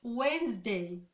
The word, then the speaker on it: Wednesday: Mais pas en anglais, on ne va pas prononcer le D. On va l'avaler, on va le rendre muet. Wednesday, c'est faux en anglais. On dit Wednesday, Wednesday, Wednesday. On va avaler cette partie. Ok?